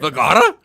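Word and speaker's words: Vergara: Vagara.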